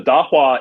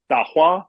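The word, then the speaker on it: Dahua: So Dahwa is a Chinese company. Um and I'm I'm sure I'm saying it wrong. It's Dwa. There we go. Uh still saying it wrong, but less wrong.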